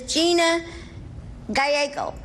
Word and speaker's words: Gina Gallego: This little girl is Gina Gallego. That's the way she pronounced it.